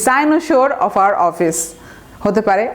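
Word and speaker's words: cynosure: এবং তারপরে কি হলো, সাইনোসোর, আমরা বলতে পারি, এটা উচ্চারণটা দেখেন, সাইনোসোর।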